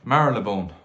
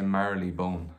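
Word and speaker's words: Marylebone: merlin thanks very much marilebone i always say merrily bone and that's not how you say it um this is a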